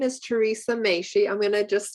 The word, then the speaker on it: Machie: a woman okay so my name is theresa may she i'm gonna just spell it because it's t teresa without an h